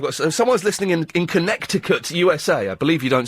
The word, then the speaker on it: Connecticut: Oh, I've got someone's listening in in Connecticut, USA. I believe you don't speak USA. You don't pronounce a second C. So, it's Connecticut.